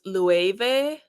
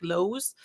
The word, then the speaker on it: Loewe: Like I didn't know that Loewe was Loewe or something like that. Because I look at it and I see a German word because we have a German word that's spelled like that, and it's Löwe. I guess it's closer than to say Loewe or whatever. Like, because I guess people would say it like Lowe's.